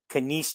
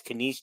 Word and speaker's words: Kenice: Callie Levine, Taylor McCabe, Kenneth Johnson, Kenice Johnson. I'm sorry, I said that wrong. It's Kenice Johnson.